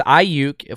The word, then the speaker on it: Aiyuk: You say the name, it's Aiyuk for all my Street Fighter fans back in the day. Aiyukin, right? Aiyukin, right? That's how you say it. It's the Aiyuk, just without the id.